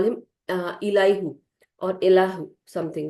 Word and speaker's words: Elihu: used to call him Elihu or Elahu, something like that. So I don't know if I'm pronouncing correctly. It is Elihu. So Elihu or Elihu, something like that. Just like Allahu, as people do call.